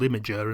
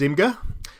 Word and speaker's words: Imgur: Now I'm pronouncing this Imgur. Somebody told me it was called Imager and it's got me confused, but I'm going to stick with Imgur.